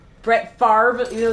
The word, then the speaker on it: Favre: Like, please explain to me how you suddenly pronounce the R before the V when it's spelled V then R.